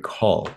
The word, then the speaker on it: Kaul: I am here with kabari call is that the pronunciation your last name you did indeed yes thank you very